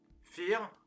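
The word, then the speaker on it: vier: Fear. Alors quel mémotechnique tu pourrais donner? Personnellement, le mot anglais fire, donc tiré, et je le prononcerai à la française, donc fear.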